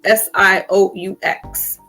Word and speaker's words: Sioux: That's like you hear Red Sox, but it's spelled Sioux.